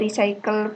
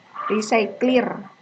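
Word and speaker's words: RecyclerView: Oke, ada recycle view di sini yang nggak support. Recycler. Oke, recycler guys, yang benar cara bacanya.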